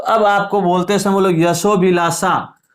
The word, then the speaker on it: यशोभिलाषा: जैसे दोनों शब्द मैं बोल रहा हूं, यशोभिलाषा, यशोभिलाषा, देखो यशो अभिलाषा, यहां तो अ दिख रहा है आपको, लेकिन यहां अ दिख नहीं रहा है, तो यहां पे अ साइलेंट है, यानी यहाँ पे अ लुप्त है, छुपा हुआ है, तो वो बोलते समय अपने आप प्रकट हो जाएगा।